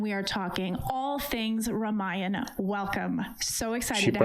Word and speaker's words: Ramayana: I'm Nikki Novak and welcome to the Fandango space at Cinema Con and we are talking all things Ramayana. Welcome. So excited She pronounced it well.